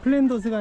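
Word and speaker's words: Flanders: 하고 가겠습니다 그걸 이제 플랜더스가 이제 영국식 발음이고 불어 바르면 플랑드르죠 지금의 벨기에 지방인데 여기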